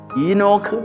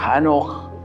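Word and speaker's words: חנוך: ഈ ഹാനോക്ക് എന്ന പദം, ഈനോക്ക് എന്ന ഇംഗ്ലീഷിൽ വേറൊരു ഉച്ചാരണവും കൂടി അതിനുണ്ട്. അതിൻ്റെ എബ്രായ രൂപത്തിൽ ഹാനോക്ക് എന്ന് തന്നെയാണ്.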